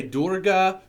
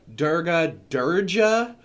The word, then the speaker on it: Durga: However, some people say Durga, Durja.